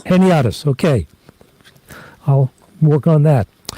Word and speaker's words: Heniadis: Did I get the pronunciation right there, Kim? Close. It's Heniadis. Heniadis, okay.